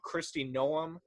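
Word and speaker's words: Kristi Noem: have to correct me if i say her name wrong christie noem um you said it right yeah this governor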